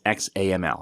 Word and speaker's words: XAML: Then we have app.xaml window or main window.xaml, which XAML is XAML. That's how you pronounce XAML.